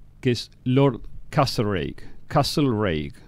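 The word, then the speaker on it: Castlereagh: es lord castro reik castle reik se escribe no importa como castell el área pero se dice a sí que es una figura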